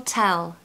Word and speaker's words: tell: Pronunciation tip, make sure you pronounce the T in time and tell because it will just give the idiom a real nice rhythm and a nice sound. So time will tell.